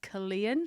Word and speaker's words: Killeen: Also the owner of MW Gym in Killeen. That's correct. In Have I pronounced it right?